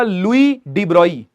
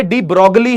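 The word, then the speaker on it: Louis de Broglie: भाई साहब का नाम था लुई डीब्रोई। लिखते डी ब्रोगली हैं। लेकिन डी ब्रोगली नहीं बोलते इसको। लुई डिब्रोई। फ्रेंच थे ये। तो वहीं की प्रोनाउंसिएशन वैसे ही चलती है।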